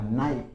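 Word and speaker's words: knife: फिर देखो नाइफ, नाइफ का मतलब होता है चाकू, लेकिन इसमें भी के साइलेंट रहता है, ध्यान रख लेना। नाइफ, के नाइफ नहीं होता है, के इसमें साइलेंट रहेगा।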